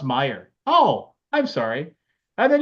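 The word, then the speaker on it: Meijer: had a charge at miger for $194 you had another charge at maiger where then then some of them would actually say it's pronounced Meer oh I'm sorry and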